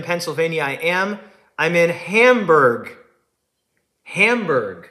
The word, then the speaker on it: Hamburg: I'm in Hamburg. Hamburg. Yeah, like hamburger but spelled different. Like spelled like Germany.